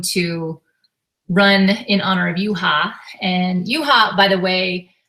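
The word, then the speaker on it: Juha: So we're going to run in honor of Yuha. And Yuha, by the way, a lot of people don't know this. We named Yuha after a Finnish hockey player. His name is spelled J-U-H-A.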